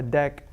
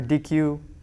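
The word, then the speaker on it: deque: object that you imported from deck or dq i'm just saying that because that's how patrick pronounced it remember patrick he was in like france or something oh yeah he pronounced it as dec so uh okay so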